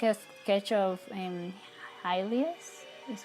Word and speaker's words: Hylia: So this is like a sketch of Hylia's, is how you say it in English.